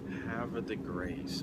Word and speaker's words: Havre de Grace: town oh see that's we've been told hav right hav the grace but you know we're